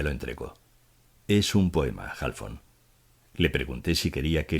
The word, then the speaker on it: Halfón: aula tiene un minuto halfón me dijo pronunciando mi apellido de una manera muy peculiar como si éste tuviera acento en ambas sílabas o algo así le dije que por